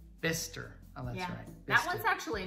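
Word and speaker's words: Bicester: okay this last one how do you say that beyster no mister mister that one's actually not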